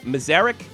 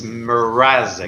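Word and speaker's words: Mrázek: Am I saying this guy's name like Mazarek or Manzarek? How do you say a kid's name? It's Mrazek. Mrazek.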